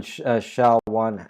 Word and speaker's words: SHA: old websites still use sha one but uh uh you know uh use shot two or shot 256 or sha 512 it's called It's pronounced Sha shha but that's that's a